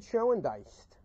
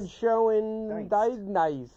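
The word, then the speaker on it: Schoendienst: Red Schoendiest. I know there's an N before the ST. That's a silent N. It's gotta be. Red Schoendiest.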